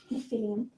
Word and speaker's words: Nephilim: Nephilim. Okay, Nephilim. Okay. Is that how it's spelt in these?